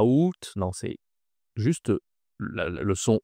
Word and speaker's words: août: C'est le mois le plus facile à prononcer de l'année. Oû ce n'est pas à août.